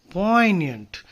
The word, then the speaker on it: poignant: Poignant, the G is silent there.